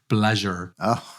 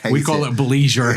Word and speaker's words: bleisure: But at least the British sounds more elegant. The American pronunciation sounds like a rash that you have that you need some cream for. Like lesion, yeah.